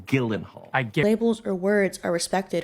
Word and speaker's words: Gyllenhaal: Hi, I'm Jake Gyllenhaal, and I'm hosting SNL this week with Camila Cabello. No, Gyllenhaal. Your name is pronounced Gyllenhaal.